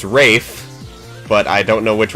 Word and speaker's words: Ralph: It's Rafe, but I don't know which one that is. Yep, Rafe Fiennes' first Okay. name is spelled like Ralph, but pronounced Rafe.